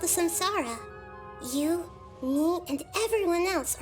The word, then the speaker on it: samsara: the one day samsara I don't know why they call it samsara but it's actually sansara it's a uh the no uh North East uh no not yeah the East pronunciation is the samsara the real pronunciation is tansara ask for the truth